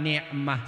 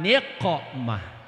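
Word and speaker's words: نقمة: Ilahi salimil ummah minal afati wan ni'mah. Salah bacaannya, bukan ain tapi qaf. Ilahi salimil ummah minal afati wan niqmah.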